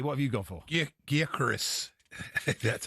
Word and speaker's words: Gyökeres: A Swede messaged me and said it's Gyökeres. Gyökeres.